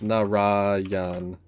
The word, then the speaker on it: Narayan: It's like, no, it's Narayan. Like that. So yeah, I've been mispronouncing Jananin for a while.